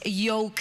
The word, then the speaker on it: Yoke: My name is Yoke. But it's spelled Joke.